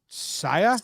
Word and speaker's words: Seiya: to talk about suzuki yes how do you pronounce his first name saya they say yeah saya yeah you play outcast